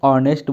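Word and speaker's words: honest: हैं जो यहां पर इसको शुद्ध उच्चारण जब हम लोग करेंगे इसको ऑनेस्ट बोलते हैं और ऑनेस्ट यहां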